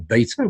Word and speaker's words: beta: had a number of beta or beta whichever way you like to say it users doing this